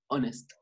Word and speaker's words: honest: We are going to learn the, three most common exceptions when the age is silent. So please just say honest.